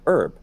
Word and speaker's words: herb: actually happens a lot the H sound was also mostly gone even in English 400 years ago oh and you put it back we put it back we put it back um so in the 16th century Shakespeare's time most English speakers had lost the age but I ended up getting restored in the 17th century but not for every word you for example as a British English speaker we say herb yeah why because During